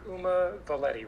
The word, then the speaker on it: Uma Valeti: So let me make sure I'm pronouncing your name right. Dr. Uma Valeti, right?